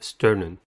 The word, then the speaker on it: sternum: the first word is sternum sternum has two syllables and the stress is at the first one the first syllable is